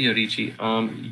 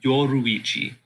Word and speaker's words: Yoruichi: But if he really needs to, did I say Yorichi? Yoruichi. Right? That's her name. That's all. Yeah, it's almost the same pronunciation though if you say it really fast.